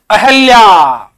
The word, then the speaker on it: अहल्या: कई बार हम मान लेते हैं, पहला हमारा विकल्प मिलता है अहिल्या, हम मान लेते हैं भाई अहिल्या शब्द शुद्ध होगा। नहीं, अहिल्या शब्द गलत है। शुद्ध जो शब्द है वो है अहल्या।